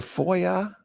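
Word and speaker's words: FOIA: interchange format oo o um I the the Foya fo o i a I've never is that how you pronounce it yeah Foya I've always just gone by the Freedom of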